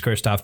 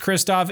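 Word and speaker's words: Krzysztof: uh composers is is Kristoff pendi I presume it's pronounced Kristoff it's Pol it's one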